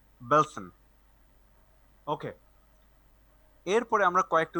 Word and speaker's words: Belsen: ডাখাও, অসউইচ, বেলসন। ওকে, এরপরে আমরা কয়েকটা উচ্চারণ দেখবো।